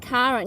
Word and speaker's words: Chiron: Yes, his name is Chiron. Yeah, it's spelled differently. Yeah. And it's like Sharon.